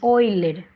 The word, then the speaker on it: Euler: el número de euler se escribe así y se lee oyler vale es un número